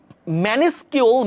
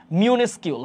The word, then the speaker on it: minuscule: আর ম্যানিস্কিউল, ম্যানিস্কিউল শব্দটা আসলে নাই ডিকশনারিতে, হ্যাঁ ওয়ার্ডটা ছিল হচ্ছে মিউনিস্কিউল, হ্যাঁ MINUSCULE, হ্যাঁ অর্থ হচ্ছে ক্ষুদ্র, অর্থ কি?